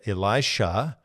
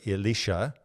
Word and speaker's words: Elisha: Depending on how you're pronouncing it, it's either Elisha or Elisha.